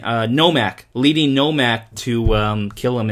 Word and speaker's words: Nomak: Nomak.